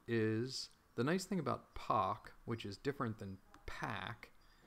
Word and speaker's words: pak: Actually, you know, it's POC, POC. They pronounce it POC at Cycling 74. I always forget. Pack is P-A-C-K. POC is P-A-K.